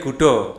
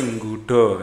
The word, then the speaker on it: Gudo: Dari Gudo. Gudo ini Jombang juga, dari Gudo. Ya, kalau orang Jawa asli bacanya bukan gudo tapi nggudo ya.